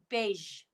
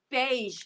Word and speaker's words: beige: and there's a few only a few words in english that ends with the sound so we have the sound at the end and look at the spelling there ah this color is beige okay beige everybody say beige beige yes collage collage